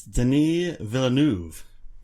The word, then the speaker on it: Denis Villeneuve: Apparently I said his name wrong. I don't know if I should give you an opportunity to speak. It's Denis Villeneuve. Oh, jeez. Yeah. It's French. Yeah, so am I.